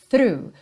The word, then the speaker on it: through: puxando para esse R through through o GH fica mudo aí OK então through